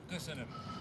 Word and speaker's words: Köszönöm: Köszönöm.